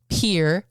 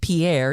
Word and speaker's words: Pierre: you know, and um it's pronounced pier, not Pierre, even though it's spelled like Pierre.